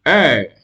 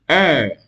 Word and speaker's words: heir: An heir, an heir, an heir.